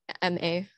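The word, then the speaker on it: má: funeral the second one has the acute accent it's pronounced ma and that means mother as you can see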